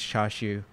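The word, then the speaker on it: チャーシュー: perturbed by my pronunciation the japanese pronunciation is chashu and yeah yeah char charsoo it's spelled charsu right yeah and but my mom and just always said it cha shoo cha shoo okay that's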